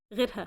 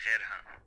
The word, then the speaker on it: غيرها: غيرها. Okay, غيرها. This is why you can see double sukun. A sukun on the yeh and the sukun on the ra.